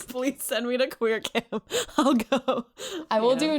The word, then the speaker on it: Qamp: That's camp with a Q, but not pronounced Qamp. Just camp.